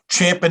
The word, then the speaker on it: champing: I mean, this is a guy who is champing at the bit. I said that I pronounce that extremely clearly, because champing at the bit's the correct term.